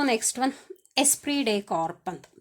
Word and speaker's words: esprit de corps: So next one ಎಸ್ಪ್ರಿ ಡೆ ಕಾರ್ಪ್ ಅಂತ. ಸೊ ಏನು ಎಸ್ಪಿ ಡೆ ಕಾರ್ಪ್ means, SP Day, here T is silent, okay. Esprit de corps, PS is silent here. So Esprit de corps ಏನು, team ಸ್ಪಿರಿಟ್.